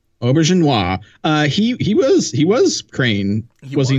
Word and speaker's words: Auberjonois: Well, and Rene Auberjonois, how do you pronounce his name? I can never say his name. Auberjonois.